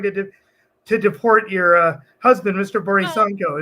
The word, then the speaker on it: Borisenko: Borisenko. Is it pronounced Borisenko? What are you saying? Yeah. Borisenko. So you got it perfectly.